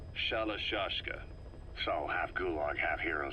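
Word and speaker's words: Shalashaska: because somewhere along the line, Shashka got stuck on the end of Sharashka. The guerrillas were using the name amongst themselves. By the time I got to hearing about it, pronunciation had wound up as Shalashashka.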